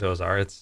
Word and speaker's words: Ozar: Last name starts with an O, rhymes with Omar. And It's okay to say Brent Ozar.